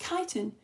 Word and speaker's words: chitin: I think you found it's pronounced chitin, Lara.